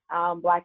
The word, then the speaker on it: BBLVK: It is BBLVK, pronounced Black, Jewel, JEWEL, and it's available on Spotify, Apple Podcasts, Google Podcasts.